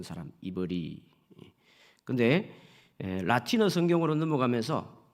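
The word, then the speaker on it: עברי: 이 히브리라는 말은 원래 발음으로는 이브리 이런 소리가 납니다.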